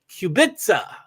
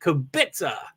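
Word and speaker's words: Kubica: do believe ham Lewis Hamilton Hull Nico hulkenberg kubitza that's how you pronounce that kobitsa uh he's no longer or he does like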